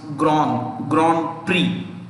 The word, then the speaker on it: Grand Prix: In French, it's pronounced Grand Prix. The prix there, yeah, means prize. Typically, it means prize. Okay, so Grand Prix, X silent होता है French में, तो ऐसे ही pronunciation आ गया अभी.